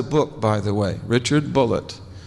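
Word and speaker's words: Bulliet: He spells his name B U L L I E T. And he pronounced it bullet. He corrected me. He said, "No, my name's not Bouier. It's Bullet."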